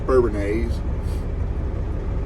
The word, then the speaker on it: Bourbonnais: We are in Bourbonnais, whatever you want to call it, I guess. I think a local guy told me it's pronounced Bourbonnais.